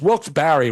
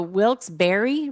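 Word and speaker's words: Wilkes-Barre: It's Wilks Barry Robin.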